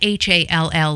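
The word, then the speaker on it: Hohl: Daryl was born Daryl Franklin Hall, not H-A-L-L like we know it. It is spelled H-O-H-L, pronounced Hall, but spelled differently.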